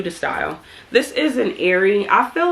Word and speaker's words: Aerie: This is an Aerie. I feel like, so I do watch my hauls, and I know that I've been pronouncing this brand wrong. I've been calling it Ari, and it's called Aerie, but just cut me some slack.